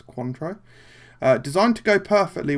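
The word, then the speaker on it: Cointreau: I heard a lot I hear people pronounce it contro but I think it's I think it's quantro uh designed to go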